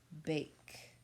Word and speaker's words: bake: Don't forget that silent E on the end that makes that vowel say its name. Bake.